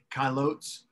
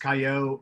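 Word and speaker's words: caillottes: kaio is what it's called it looks like kailots but it's pronounced kayo or caillou like that terrible tv show that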